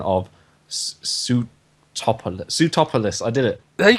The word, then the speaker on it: Sootopolis: take it what was it what is the pronunciation of suit top under sootopolis I did it there you go well done